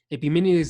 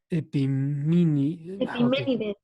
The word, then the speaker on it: Epiménides: Epiménides de Creta a Dio Crisóstomo.